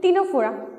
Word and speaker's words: Ctenophora: आज हमारे वीडियो का टॉपिक है फाइलम टीनोफोरा। टीनोफोरा में यहाँ सी साइलेंट है फ्रेंड्स, सो प्रोनाउंसिएशन में आप गड़बड़ मत कीजिएगा। सी जो यहाँ पे साइलेंट है, इसी को टीनोफोरा कहते हैं।